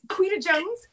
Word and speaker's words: Quita Jones: bye kayleen and uh bye see oh it's queen of jones am i saying that correctly you are oh good all right people mispronounce my name constantly so i want to